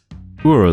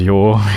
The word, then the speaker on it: Ur: Sometimes I just pronounce it as Yor, because it's kind of funny and also easier to say. My accent doesn't exactly pronounce the letter R very strongly, so Ur is just kind of awkward to say.